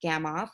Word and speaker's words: Gamow: grunted at the noodles a gamma flag pronounced gamma off was invented by Igor